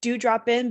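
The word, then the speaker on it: Dew Drop Inn: folks at home it's it's pronounced that do drop in but it's d-e-w drop i n n so it's a pun we love it uh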